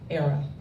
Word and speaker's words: Airea: say it with me era rhymes with Sarah Sarah from the Latin